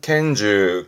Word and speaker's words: 拳銃: 발음은 켄즈, 켄즈에서 음으로는 켄갑니다.